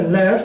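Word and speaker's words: לב: con la letra Buscar corazón se dice left y se escribe con la letra lamet y con la letra b Okay pero aquí en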